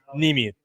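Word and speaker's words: Niemi: Nimi. So it's spelled N like Nancy, I-E, M like Mary, I.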